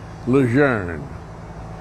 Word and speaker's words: Lejeune: the family pronounces it lose earning as though it had an R in it which it does not have John Luzerne is one